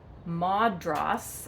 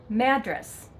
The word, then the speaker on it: Madras: It's not Madras or Madras. We pronounce it Madras. Say it like you're mad, to Madras, okay?